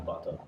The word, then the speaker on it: Bato: No, my last name is Bato. That's good to know. Yes. Rhymes with Vato. Yep. The whole thing. Bato.